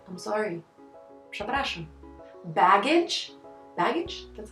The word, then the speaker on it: przepraszam: Przepraszam. Przepraszam.